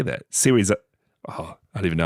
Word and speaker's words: Serizawa: Shiwazawa. We did pronounce his name like that for the longest time.